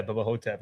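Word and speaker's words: Bubba Ho-Tep: pronunciation. Yeah, Bubba Hotep.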